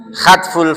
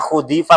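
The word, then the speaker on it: حذف: Hadful fa'ili, pembuangan fa'il. Hadfu itu kan bacanya kan? Hadful fa'ili, dibaca masdar itu bukan khudifa, bukan khadafa itu masdar. Bukan khadafa toh? Bukan khudifa, tapi itu hadfu.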